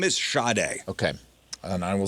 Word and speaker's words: Sade: The name is Sade.